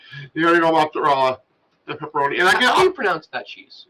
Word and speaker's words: mozzarella: Like, literally, it's not mozzarella. It's mozzarella.